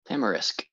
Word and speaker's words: tamarisk: It's can't remember how you pronounce it, tamarisk something. Tamarisk.